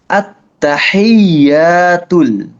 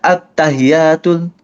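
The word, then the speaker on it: التحيات: At-tahiyyatul. Jangan baca at-tahiyatul. Common mistake adalah dibacanya at-tahiyatul, at-tahiyatul, malah pakai H gede.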